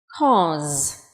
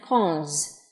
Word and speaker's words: cause: Cause. Âm cuối là z nhé. Cause.